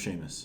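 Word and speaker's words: Seamus: lot you ready uh truth his name is pronounced Sheamus that's a good one no is from Ireland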